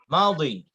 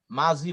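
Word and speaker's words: ماضي: মাউদি, আরবরা মাউদি বলে, মাজি বলে না। আমাদের দেশে মাজি বলে, মাজি। বাংলা উচ্চারণ লেখার সময় কিন্তু মাজি লেখা হয়, যেটা লেখা হয় এটাই শুদ্ধ। আমরা আরবি যখন উচ্চারণ করব তখন মাউদি বলবো।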